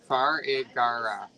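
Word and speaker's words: Farigiraf: They're said exactly how they sound. Farigara. Farigara. Frig. Farigara. It's phonetic is the word. It sounds exactly like it's spelled.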